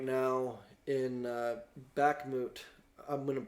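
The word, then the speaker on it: Bakhmut: big war going on right now in uh back moot I wouldn't pronounce it wrong but I think it's b-a-h-k-m-u-t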